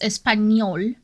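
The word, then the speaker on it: español: Okay, cuz even the the the language itself, the name itself, espanol, right? You have to pronounce it right. And it pronounced like, you know how you say in Italian is bologn?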